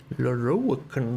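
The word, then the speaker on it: Lorroakan: Lorokan, that's how you pronounce it.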